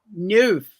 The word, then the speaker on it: neuf: I still remember in a Nancy Drew book about a number 9 that she said in French, neuf or neuf. I don't know how to pronounce it.